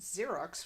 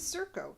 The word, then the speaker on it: Xerko: Mindy asks why this Xerox would want to come here. Mork says, no, his name is Zurko. Or maybe he pronounces it Zerko.